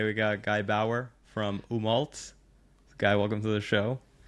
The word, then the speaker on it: Umault: is a ridiculous name like people think we're umot right like it it's umal it's a play it's